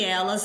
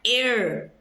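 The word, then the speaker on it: él: é el, não é er, É el. El. Esse L tem que subir ali para o céu da boca. El. Quando a palavra termina em L em espanhol, esse L tem que ser pronunciado.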